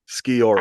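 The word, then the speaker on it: Sciorra: Skiora.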